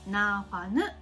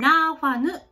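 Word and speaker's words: ナーファヌ: 那覇の、ナーファヌと言います。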